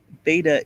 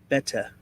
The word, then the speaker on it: betta: just so you know beta is pronounced betta as in bet that's a betta fish ice calm a